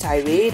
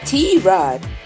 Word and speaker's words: Tirade: And mind you, it's not pronounced tirade or T-Rade, but T-Rod.